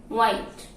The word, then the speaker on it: white: First one, the wh letter combination can be pronounced w. That means h is not pronounced. Example, white.